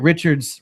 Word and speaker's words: Richard: Oh, I think I put the wrong emphasis on the wrong syllable there. So, okay. Tied Rocket Richards' record of 50 goals in his first 50 games of the season.